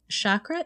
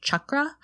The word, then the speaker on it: chakra: centers being activated okay so what are chakras chakra is the sanskrit word and it means wheel or circle it's actually pronounced chakra but in the west we often say chakra